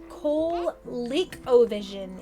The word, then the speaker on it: ColecoVision: ColeCovision is how it's pronounced, though.